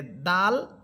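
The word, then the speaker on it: دال: সিফাতগত পার্থক্য হচ্ছে যে দাল এটা হচ্ছে চিকুন হরফ। যে কারণে আমরা আকার দিয়ে পড়তেছি। দাল দাল দেখেন সাথে আকারের উচ্চারণ হচ্ছে দাল আর দদ এখানে এটা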